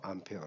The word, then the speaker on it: 암페어: 된거고 단위는 암페어 입니다 와 표 예라 예의 라고 읽으면 안된다 그랬죠 암페어 라고 그 다음에 저항은 저항은